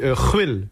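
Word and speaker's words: Rouïl: Alors moi mon vrai nom ça se dit ruel mais ça s'écrit R o u I trma l.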